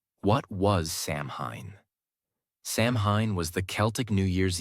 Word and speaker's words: Samhain: And the most powerful day of the year was October 31st, the night of the festival called Samhain, pronounced Samhain. What was Samhain? Samhain was the Celtic New Year's Eve, the final day of the year.